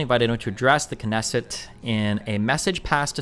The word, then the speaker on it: Knesset: The Knesset or the Kesset. The Knesset. It's got to be the Knesset.